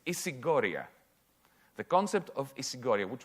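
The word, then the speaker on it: ισηγορία: I'll pronounce it in Greek. It's isigoria.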